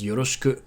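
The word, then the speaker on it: よろしく: Here, the e sound can be devocalized, so yoroshiku becomes yoroshiku.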